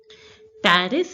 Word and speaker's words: Paris: Paris is pronounced as Paris in French. So, Paris is pronounced as Paris in French. The letter S in French, here the last letter S is not pronounced.